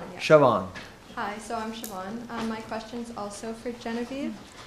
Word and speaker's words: Siobhan: chance to check with the student how to pronounce the name Sylvain. Yes. I'm sorry, Siobhan? Siobhan, yeah. Siobhan. Hi, so I'm Siobhan.